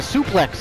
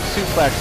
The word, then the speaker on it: suplex: Based on the word suplex is based on the French word souple, which describes the same technique. Well, that's why you say it's suplex. But according to English pronunciation rules, you would say it suplex.